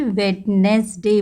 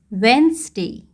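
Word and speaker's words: Wednesday: चीज है word वेनसडे इस वर्ड को बहुत सारे बच्चे वेडनेसडे बोलते हैं वेडनेसडे इट इज नॉट वेडनेसडे हाउ you will pronounce it वेनसडे वेनसडे बोलिए वेनसडे okay that is the correct pronunciation and एक और गलती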